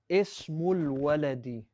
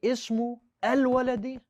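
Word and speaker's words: اسم الولد: Did you hear what I did with the hamzatul wasl? I'll say it again. Look at what happened to the one on al-walad, the second word. Ismul waladi. Did I say ismu al-waladi?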